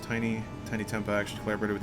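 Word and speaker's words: Tinie: it's Gloucester sorry uh tiny pronounced tiny tiny Tempa actually collaborat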